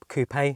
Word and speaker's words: coupe: when i test drive the coop coupe however you want to pronounce it wherever you're from the sound of it